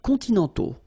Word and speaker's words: continentaux: Okay, so les climats continentaux, remember, final X not pronounced, and then this AU together, they give you the sound O, okay?